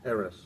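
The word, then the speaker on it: Eres: How do you pronounce that? Eris.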